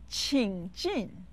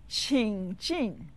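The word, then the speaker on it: 请进: means please come in it said with the third and the fourth towns qing jin ching after me three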